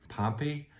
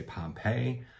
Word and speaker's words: Pompey: after the Roman leader Pompey and a lot of people outside the area will say Pompeii but if you actually again look at the Roman it is Pompey so there's the town